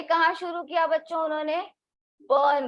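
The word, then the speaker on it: Berne: बर्न में। यहाँ spelling तो बर्ने है लेकिन प्रोनाउंस कैसे करेंगे? बर्न। और ये कहाँ आता है आपके?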